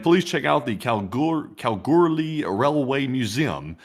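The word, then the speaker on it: Kalgoorlie: And please check out the Calgur Calguri Railway Museum. It's not big, but it's a significant part of the history of Washington and the goldfields." The Calguri.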